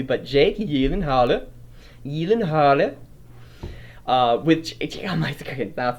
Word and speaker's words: Gyllenhaal: Jake Gyllenhaal. I think that's how you pronounce his last name, Gyllenhaal. Jake Gyllenhaal. It's like Gyllenhaal, but it's Gyllenhaal.